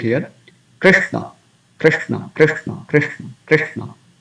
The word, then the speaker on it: Krishna: So after this Re, there is a combination of consonants, Sha and Na. So we have to give some pressing effect here. Krishna, Krishna, Krishna, Krishna, Krishna, not Krishna, Krishna, but soft.